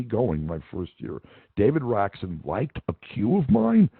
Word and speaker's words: Raksin: Well, there was that percentage of the class who always mispronounced his name, like Mr. Raskin. And he'd go, again, my name is Raksin, and they go, yes, Mr. Raskin, Well, I knew they couldn't be serious.